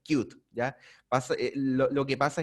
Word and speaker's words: Qt: el scooter primero bueno la pronunciación correcta de esta plataforma de este conjunto de bibliotecas debería ser cute ya pasó lo que